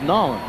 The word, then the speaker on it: New Orleans: How do they say it down here? Nolens? Yeah, that's how they say it. It's not New Orleans, it's Nolens, right?